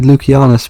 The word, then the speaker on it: Lucianus: Well, I don't know if he was going for, but the proper Roman pronunciation of Strategos Lucianus would be Lucianus because they had no soft C sounds.